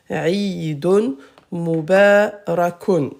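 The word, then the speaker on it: عيدٌ مبارك: On va pas prononcer cette voyelle. On va dire Eidun mubarak. Eidun mubarak. D'accord? On l'écrit, mais on ne le prononce pas.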